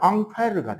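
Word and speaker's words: Ampère: 그 암페어라는 이름을 프랑스어로 발음하면 앙페르가 됩니다. 아 진짜. 어 진짜요? 이게 영어면잖아. 어이 R이니까 프랑스로 발음하면 앙 에르가 되는 거야.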